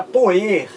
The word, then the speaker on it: poer: Então, no passado, o verbo por, ele era pronunciado e escrito assim, gente, ó. Era poer.